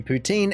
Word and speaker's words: poutine: to be pronounced correctly on one hand it's said that it's pin on the other hand it can just be poutine it really doesn't seem to be ever correct I hear both all the time and